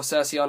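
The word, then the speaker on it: Kerykeion: Keryekion, or Branco Malvagio Keryekion in Italian. Keryekion, or Cercion as I used to call it, because Cercion was the OCG pronunciation, is an incredibly, incredibly strong card.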